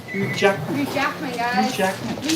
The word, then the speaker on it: Hugh Jackman: Apparently we're pronouncing it as Hugh Ackman. Hugh Jackman.